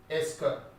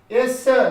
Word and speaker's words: est-ce que: This is pronounced as yes sir. No. Est-ce que.